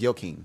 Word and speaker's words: Joaquin: Is it Y? Is it a Y pronunciation? It's pronounced Joaquin.